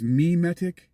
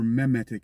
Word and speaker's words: memetic: 2013, which is I you could pronounce it a couple ways, memetic engineering or memetic engineering.